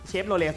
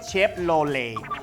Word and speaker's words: Chevrolet: ใช่ ไหม ว่า เอ ทำไม คน ไทย เรียก เชฟโรเลต ทำไม ฝรั่ง เรียก เชพ โลเล เพราะ ว่า ตัว L ET สุด ท้าย มัน ไม่ ออก เสียง ทีม เขา เลย ว่า